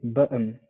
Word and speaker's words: button: know i would say button say one more time it's pretty good it's pretty good um button now the o n sounds more like the schwa sound it so it's more